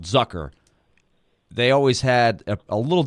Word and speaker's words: Zucker: name it it's spelled Zucker they always had a little different pronunciation it's more like zook like hooker zooker um 32 years old